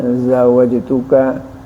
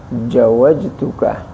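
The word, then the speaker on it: زوجتك: Huruf jim, zawajtuka, ya, dibacanya dan mengganti jim menjadi zal, zawajtuka, aturan jawajtuka.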